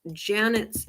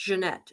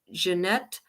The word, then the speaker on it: Jeanette: spelled it wrong but it's pronounced Jeanette it's not pronounced Janet it's Jeanette hudden Jorgensen and um